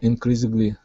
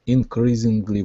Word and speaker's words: increasingly: So the S here instead of being a voiced S will be an unvoiced S. Increasingly. Increasingly.